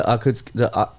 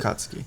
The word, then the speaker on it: Akatsuki: It's the Akutsuki. I don't even know how to say it, but Akatsuki. that was from Shippuden. No, Akatsuki.